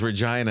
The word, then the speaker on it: Regina: And Regina, which their slogan is Regina, it rhymes with fun.